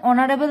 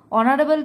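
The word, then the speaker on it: honorable: ওয়ান হি ইজ অ্যান অনারেবল ম্যান তিনি একজন সম্মানীয় ব্যক্তি দেখো অনারেবল তো এইচ দিয়ে শুরু হয়েছে কিন্তু উচ্চারণটা ভাওয়েলের মত হচ্ছে ও এর মতো তাই এখানে এন বসবে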